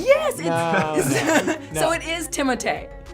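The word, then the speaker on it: Timothée: So it is Timothee.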